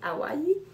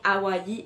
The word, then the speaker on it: Hawaii: C'est écrit Exotic Paradise, Honolulu Bay, North Shore, Maui, Hawaii. Donc, ça se prononce bien Hawaii et non pas Hawaii, sans prononcer le I. Il faut dire le I à la fin, c'est important.